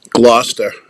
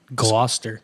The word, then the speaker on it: Gloucester: t e i GL I was gonna say there was an r in there but you couldn't hear him pronounce it yeah and I could